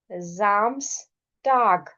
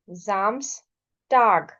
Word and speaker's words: Samstag: क्योंकि ए से पहले एस है, ओ से पहले एस है, ए एंड O both are vowels, so S sound will be एज z. So this is Samstag, Sonntag.